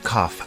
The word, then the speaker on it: cough: you have a cough the word cough has an unusual pronunciation instead of a g sound we have an F sound here do you have a